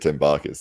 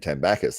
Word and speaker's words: Tambakis: They're both correct. Okay. It's whatever feels right, you know. Yeah, feels fine. I've always said Tambakis, and then I heard Jake Ward saying Tambakis, and I was like, am I saying it wrong? Nah, they're both correct.